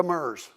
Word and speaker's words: Demers: and is it okay is it Demers or demur de demur okay didn't know but even on websites you ought to put demur pronounce this way you know what I